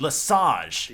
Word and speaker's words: Lesage: Finally, I know how to pronounce it. Lesage.